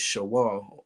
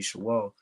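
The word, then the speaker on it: שְׁאוֹל: go into it is shawa you see what i'm saying in the hebrew all right the true pronunciation would be shewa all right and it's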